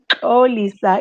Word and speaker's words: Xolisa: will not forget it it is spelled x-o l-i-s-a oh lisa is how's pronounced but i also go